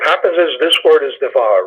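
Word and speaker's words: דבר: it's because what happens is this word is devar right it's the var but in this case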